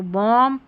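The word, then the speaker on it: bomb: MB, और यहाँ पर इस MB को म पढ़ते हैं क्योंकि B जो आ रहा है ना ये साइलेंट है, तो बॉम, थम, कॉम, ऐसे पढ़ेंगे।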